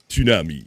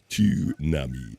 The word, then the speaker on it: tsunami: Well, we learned uh uh tsunami. You have to pronounce the t. Most people forget overlook to announce the t. Oh my. Tunami.